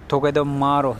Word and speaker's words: Togedemaru: Hem şu Togedemaru diye okunuyordu herhalde.